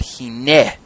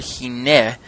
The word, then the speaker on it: hineh: Because if it were, I imagine that another Hebrew word, hineh, might have been used instead.